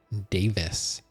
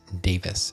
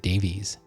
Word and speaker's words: Davies: Um, and another interest his name is Greg Davis but it's spelled Davies. D- A V I S. So it it seems like a lot of people pronounce Davies as Davis.